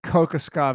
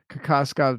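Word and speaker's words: Kokoškov: I have a good feeling that Kokoskov is not the correct pronunciation, so Kokoskov makes a lot more sense.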